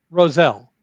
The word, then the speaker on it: Roselle: Please correct me if I'm pronouncing the name correct. Rosel or was it Rochelle? Roselle.